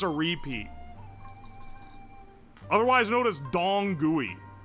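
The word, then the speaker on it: dong gui: Otherwise known as dong gooey like d o n g gui is the pronunciation.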